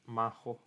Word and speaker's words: Majo: excuse me all right majo then his name in spanish is pronounced mahou like magic in japanese i believe i gotta